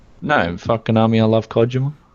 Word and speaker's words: Kojima: No, fuck Konami, I love Kojima. Kojima? Is that how you say it? Is that the correct Japanese that's actually how pronunciation?